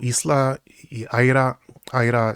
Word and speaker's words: Isla: And how Aira, it's written Isla, but it's pronounced Aira.